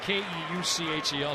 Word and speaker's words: Keuchel: Keuchel. I knew he was going to do that. Spelled K-E-U-C-H-E-L. It's pronounced Keuchel.